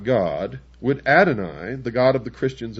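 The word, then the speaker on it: Adonai: were not God, would Adoni, the God of the Christians and the Jews,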